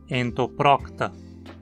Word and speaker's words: Entoprocta: Em entoprocta, a penúltima sílaba termina em consoante, então obrigatoriamente leva o acento. Entoprocta.